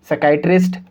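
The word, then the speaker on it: psychiatrist: concept यह कहता है की एस से पहले जब ये पी को लिखेंगे तो पी साइलेंट होगा तो हम इसको क्यों पढ़ेंगे साइकोलॉजी साइकैटरिस्ट और साइको थेरेपी तो आप इन जब मैंने सभी शब्द को पढ़ा तो आप ध्यान से सुना होगा की इन सभी शब्द के अंदर पीस साइलेंट था हमने पी का साउंड प्रोड्यूस नहीं किया तो चलिए इस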